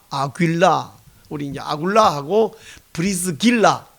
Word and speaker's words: 아굴라: 그 사람의 이름이 아굴라, 헬라식 발음은 아굴라.